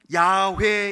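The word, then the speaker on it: 야훼: 뭐라고 할 수 있습니다 여호와는 원래의 오랜 연구 끝에 조금 더 가깝게 발음 하려면 야외 그렇게 발음해야 됩니다 오랜 리 교회 습관에 따라서 여호와라 그렇게 하지만 훨씬 더 가까운 발음은 야외 왜 입니다 어디서 야외에 들었다고 야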